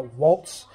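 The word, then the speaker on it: Wolt: And then it's an app here in Greece called a Waltz. What, how do you spell it?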